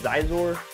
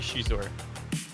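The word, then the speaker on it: Xizor: rindar or Prince Shor how do you say Shor do you say Shor you say zor I think it's supposed to be Shor Shor is how it is in the audio book so you know what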